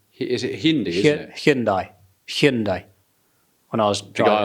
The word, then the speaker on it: Hyundai: to say now the how to say it Hindi is it Hindi isn't it hindai hindai when I was guy on the driveway